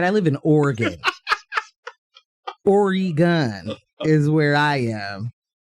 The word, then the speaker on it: Oregon: Oregon is where I am." That's like how my dad likes to pronounce it. That's what That's how my dad likes to pronounce it. Or gun. Or gun.